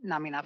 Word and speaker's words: Namina: I believe the pronunciation is Namina, and if I get that wrong, please let me know when we get in there. Namina Forna.